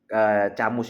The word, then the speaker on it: Camus: Bacanya Albert Camus guys ya.